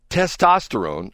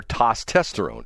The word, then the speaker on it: testosterone: Testosterone or tsesterone.